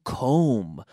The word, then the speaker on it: comb: amigo lamb pronunciation SOS there are words like this that have a silent B lamb also comb to comb my hair